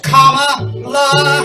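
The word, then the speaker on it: Kamala: say ta-da at last her name we're learning to pronounce now it's comma it's not that hard tucker carlson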